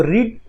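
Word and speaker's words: read: तो यहाँ पर रेड लिखा हुआ है, तो रीड, रेड, रेड, रीड की थर्ड फॉर्म रेड होती है। स्पेलिंग सेम होता है लेकिन प्रोनाउंसिएशन चेंज हो जाता है।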